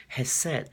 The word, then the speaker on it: Chesed: video but coming back to the subject of has said the would have said is that you're made